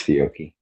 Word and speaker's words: Fiocchi: It's Fiocchi.